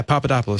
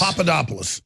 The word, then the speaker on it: Papadopoulos: Was I pronouncing it right earlier? Yeah, Papadopoulos. Papadopoulos.